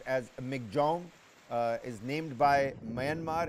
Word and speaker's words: Michaung: pronounce it uh is supposedly supposed to be pronounced as MC Jong uh is named by Myanmar and means strength